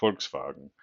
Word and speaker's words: Volkswagen: VV in German or the V in German is pronounced like an F, right? Think with the forkswagen, right? your Volkswagen Folkswagen.